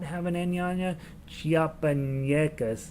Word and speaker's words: Chiapanecas: not have an enyanya chiapanyecas it was how you pronounce it with an india and